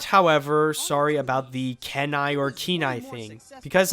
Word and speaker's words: Kenai: think I call him Kenai but uh the real thing is keenai I think could be the other